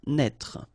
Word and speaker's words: naître: Naître. Okay, same thing here for the circonflex. Write it, but don't pronounce it. Naître.